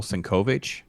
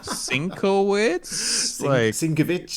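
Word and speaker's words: Sienkiewicz: it was like um it took me forever to know that it's pronounced bill senkovic yeah me too and I'm like Cinco witch or something I don't know what I was saying yes uh I think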